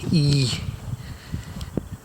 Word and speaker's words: Y: So this is the small town of Y, pronounced E.